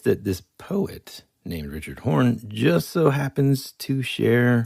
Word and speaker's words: Horne: And they said Horse instead of Horn.